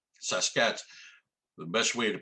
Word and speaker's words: Sasquatch: saw they're called the sasquatch saskatch the best way to pronounce it is take the word basket drop the b and add sas to it well j.w burns used